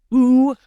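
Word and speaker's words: Aage: son whose name was ooh boar like his name was boo it's like a Danish name it's a-a-g-e I don't know why it's pronounced U but it is uh but I always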